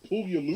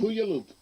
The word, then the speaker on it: Puyallup: That's probably not how you pronounce it. I'm sure it isn't, but I'm Puyallup. Puyallup.